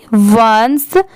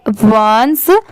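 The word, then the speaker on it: once: ओ एन सी ई वंस जैसे ओ एन ई इसे हम वन पढ़ते हैं बट यहां पर ई से पहले सी लग गया इसीलिए इसे हम क्या पढ़ेंगे वंस ओ ए ए सी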